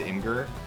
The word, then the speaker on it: Imgur: Or like Imager. It's Imgur. That's what I've always said Imgur. But then I hear some people say like Imager.